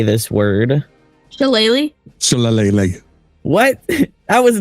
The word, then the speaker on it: shillelagh: Shillelagh?